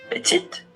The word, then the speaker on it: petit: Sa feminine din petit magiging petit. Same here. F. Hindi ba hindi ba nakakalto? Parehas lang siyang pino-pronounce.